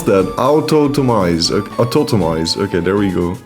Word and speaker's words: Autotomize: Shell Sidearm, Heal Block, Chilly Reception and Automatize. Autotomize! What in the world? How do you even pronounce that? Autotomize.